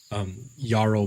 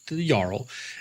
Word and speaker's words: Jarl: Jarl being, I can't really say it loudly because it's just such an Jarl, Jarl, but the RL sound is so internalized it's hard to pronounce properly.